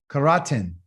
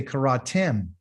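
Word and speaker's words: קראתם: you know kara karaten karaten i wouldn't talk to us like that i wouldn't say that i would say karatem tem so you notice that you have to use your mouth you have to pronunciate these last letters but how do you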